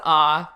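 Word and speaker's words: あ: It's pronounced ah.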